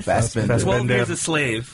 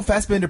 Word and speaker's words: Fassbender: Fassbender.